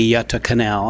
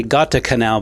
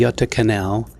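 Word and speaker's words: Göta kanal: please explain to me how do you say yata canal because i used to say gata canal before i knew how to say it in swedish how do you say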